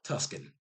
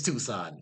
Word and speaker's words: Tucson: Campbell Avenue in the Catalina Foothills north of Tuscan. Tucson, Tusk. My brain is not working right now. I'm sorry. I'm sorry. You have Tuskanyany. You have Tucson. It's Tucson.